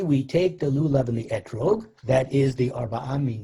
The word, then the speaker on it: etrog: their common nickname is lulav and etrog also pronounced in its ashkenazic pronunciation lulav and esrog and here is the